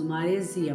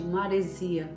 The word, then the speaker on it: maresia: Mas aí falamos normalmente maresia, não tem a abertura da letra, não tem a abertura da vogal, tipo o E, maresia, não é, está errado. Por quê? Porque não tem acento.